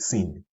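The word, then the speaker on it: سين: After Zayun comes this letter here called Sin. Sin is pronounced using the tip of the tongue and between the plates of the two front top incisors, like so. Here, this region here.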